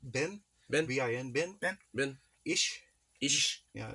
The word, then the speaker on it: ich: Ish. Ish? Yeah, it's spelled ICH.